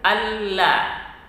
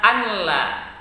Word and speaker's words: asyhadu alla: Kemudian ada setelahnya ada ashadu alla. Jangan dibaca anla karena di situ berlaku hukum idgham bila gunnah, nun sukun bertemu dengan lam.